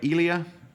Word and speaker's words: Eli: Elia. I know it's not Elia because I just had dinner with him in Rome. It's Eli.